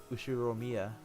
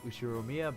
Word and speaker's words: Ushiromiya: The first part of my family name, Ushiromiya. That's a fairly plausible Japanese pronunciation so far.